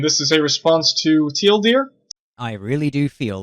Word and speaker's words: TL;DR: Hello everyone, SexyMGTOW here, and this is a response to Teal Deer. I really do feel like I'm internet famous. That's how he pronounces his name.